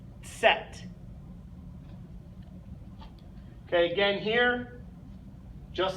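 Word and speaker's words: Zett: Y last but not least the letter Z set set okay again here just like in the letter c we see that TS okay set you have that little T sound there at the beginning set okay so there's our alphabet so I'll go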